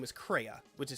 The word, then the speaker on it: Crea: but in the US version, her name is Crea, which is spelled C-R-E-A.